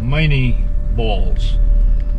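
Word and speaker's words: Minié ball: lead ball bullets called miney balls french pronunciation would be mine and that was a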